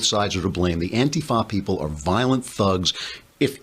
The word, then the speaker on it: antifa: they call them antifa they put the accent on the wrong saliva it's antifa now beating up people